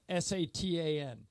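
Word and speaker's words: Šatan: named Miroslav zatan his his last name was spelled s a t an and he said so he said it's Satan sat Satan and yeah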